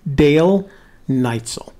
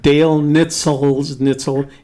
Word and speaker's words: Dale Neitzel: His name is pronounced Dale Neitzel. Dale. I know it looks Wiener like Schnitzel. it looks Okay. like Dale Nitzel. It's Dale Neitzel.